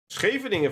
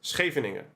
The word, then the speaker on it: Scheveningen: It's the Scheveningen variation. Can you say Scheveningen? Scheveningen. Scheveningen? Okay. We call it Scheveningen.